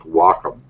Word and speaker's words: Wacom: just seen a kid he said Wacom but I remember yeah but I remember going to the the uh website itself to their tutorials and they call it something like Wacom oh the name pronunciation is really kind of off yeah Tomatoes Tomatoes who